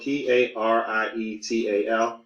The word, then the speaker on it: parietal: It's spelled P-A-R-I-E-T-A-L.